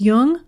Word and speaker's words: Jung: or tune in just be sure to pronounce jung with a hard j so with very special